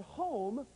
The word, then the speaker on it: home: For example, if I said the word home, the correct answer would be E, because we don't pronounce the E at the end of home.